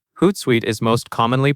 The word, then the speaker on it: Hootsuite: Hootsuite is most commonly pronounced a ho a t suite. When you say it, you will hear two parts. The first part is hoot, and the second part is suite.